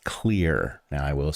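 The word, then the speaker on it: Xlear: That's X L E A R pronounced clear.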